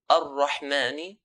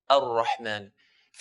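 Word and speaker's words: الرحمن: So if I say ar-Rahmani, ar-Rahmani, I'm pronouncing the ra with one ra. Ar-Ra, ar-Rahman. If I say ar-Rahmani ar-Rahim, for example, ar-Rahmani, I'm producing multiple ra's. I'm doing the repetition.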